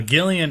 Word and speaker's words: Gillian: that don't know uh Gillian Anderson though some drama about her oh it's Gilly the one from communities Gillian but she's spelled the same way um Jillian Anderson was rumored to